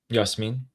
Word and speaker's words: Yasmin: And Princess Jasmine? Yasmin. Yasmin. Exactly. I'll skip on that one. I know that one. Trust me. Yasmin.